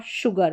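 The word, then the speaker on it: sugar: जैसे इसमें श्योर और शुगर बाकी एस को स पढ़ते हैं। ये श्योर और शुगर हो गई। ऐसी स्पेलिंग्स यहां पर जो है एस का उच्चारण श होता है।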